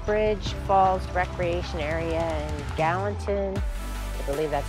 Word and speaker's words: Gallatin: we're at natural bridge falls recreation area in gallatin i believe that's how you say it national